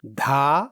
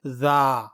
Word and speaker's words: ذ: اس کا صحیح تلفظ ہے ذا.